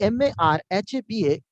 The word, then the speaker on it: مرحبا: Marhaba Ahmed. كيف حالك? مرحبا. So see, marhaba, you are noticing, you must be noticing that how I'm pronouncing. It's not marhaba in correct way. Marhaba, correct way.